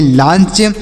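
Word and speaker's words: launch: टी ई या letter L ए यू एन सी एच तो इसे क्या पढ़ेंगे एल से लिखेंगे ल ए से आ की मात्रा यू का उच्चारण नहीं होगा यन से लिखेंगे नौ सी ए से च लिखेंगे तो इसे लिखेंगे लांच इसे क्या लिखेंगे प्यारे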